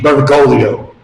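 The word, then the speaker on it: Bergoglio: It's no coincidence that the name burgolio rhymes with the Italian word for pride orio.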